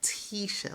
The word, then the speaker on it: Tisha: Like, I know it's spelled Tish, but it's pronounced like Tisha, like T, like that I is supposed to sound like an E, like Tisha.